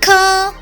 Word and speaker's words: quand: depuis quand. منذ متى. كما نرى حرف الد à la fin ne se prononce pas لا يلفظ. pendant أثناء.